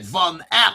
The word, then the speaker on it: Van Eck: Van Eck.